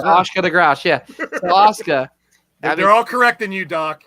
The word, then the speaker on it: Asuka: For the love of God, would you please say her name correctly? Who? Asuka, not Asuka.